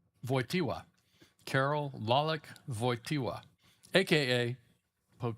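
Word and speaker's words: Wojtyła: So the J is pronounced like a Y and the L with the little uh diagonal through it is a W sound. So it's voya voya. The t w is voiwa.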